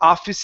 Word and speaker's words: office: So just remember, we don't want to say finey or servicey, okay, or anything like that, or office. Okay, that does not exist. Office is that E at the end is silent.